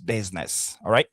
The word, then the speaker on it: business: Normalement, le I ici se prononce comme un E comme je l'avais dit tout à l'heure, c'est le short vow, donc ça se prononce business.